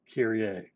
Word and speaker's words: Kyrie: name is kyrie and he has the same spelling but i promise you this is pronounced carrier it is tripartite meaning